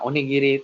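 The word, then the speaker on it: おにぎり: Nah, onigiri itu hiragananya seperti ini minasang. O, ni, ini ada huruf ki yang diberikan ten sehingga dibacanya gi, dan ya ini ada huruf ri. Jadi dibaca onigiri, onigiri.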